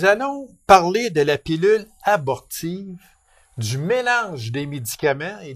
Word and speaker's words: abortive: On aurait tendance à dire avortive, mais c'est abortive. On est allé sur Internet tous les deux pour être certain d'avoir la bonne prononciation et c'est effectivement, c'est bien abortive.